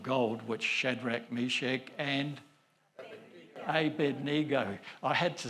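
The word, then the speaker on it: Abednego: I'll be in trouble if I don't say A-bed-ni-go. So I've even got a my daughter saying it right. Listen, it's not a Bendigo.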